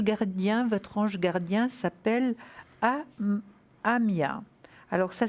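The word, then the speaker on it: Haamiah: L'ange gardien, votre ange gardien s'appelle Amia. Alors, ça s'écrit H-A-A-M-I-A-H. Amia.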